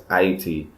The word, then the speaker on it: Ayiti: and IAT and she she insists that me pronounce what others would call Haiti as IET for the reason that